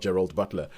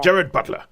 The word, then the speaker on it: Gerard Butler: Apparently, his name is Gerard Butler, not Gerald Butler. I think you pronounce it the Scottish way, which is Jared. You just say Jared. Yeah. Jared Butler.